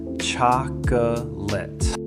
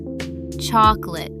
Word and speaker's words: chocolate: Looks like 3 syllables. Chocolate. But most Americans say it in 2. Chocolate. That middle O just disappears completely.